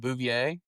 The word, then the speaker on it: Bouvier: Is it Bouvier? Yep. Is that how you say it? Yep.